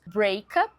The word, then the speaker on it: breakup: relacionamento, então nós temos breakup e nós temos breakup. Breakup com a primeira sílaba enfatizada é o término em si. Break up significa terminar.